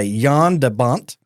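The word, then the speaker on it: Jan de Bont: June 10th 1994 the film was directed by Yan debont you know that's fun to say that is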